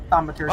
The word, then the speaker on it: thaumaturgy: I have a how do you pronounce that? Thaumaturgy? Thaumaturgy, Oh, yeah.